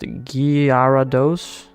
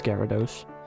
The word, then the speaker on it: Gyarados: I don't know G Gyarados is pronounced garados no I'm not going to tell you that one it is Gyarados feel like there are